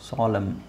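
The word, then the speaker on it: solemn: ಕೊನೆಯಲ್ಲಿ ಕೊನೆಯಲ್ಲಿ ನಿಮಗೆ mn ಒಟ್ಟಿಗೆ ಬಂದಾಗ ಈ ನಾವು ಸಾಲ್ಮ್ n ಅನ್ನ ಸೈಲೆಂಟ್ ಮಾಡ್ತೀವಿ ಓಕೆ ಸೊ ಇದೇನಾಗುತ್ತೆ ಅವಾಗ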